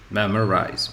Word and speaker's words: memorize: problem okay so we take ma mer rise memorize memorize memorize so the last one is this